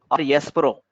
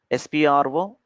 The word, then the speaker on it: SPRO: sap Z access spro people will call it as Pro it's Pro res Pro or spro either way we can pronounce spro press enter click on